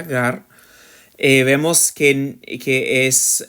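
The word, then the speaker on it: γάρ: idea otra vez veos la conjunción Gar como está escrito aquí se pronuncia más o menos de esa manera Gar eh vemos que que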